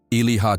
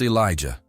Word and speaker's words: Elijah: "Elilieha Torres," the man called, mangling the pronunciation. "It's Elijah," he answered quietly, raising his hand slightly.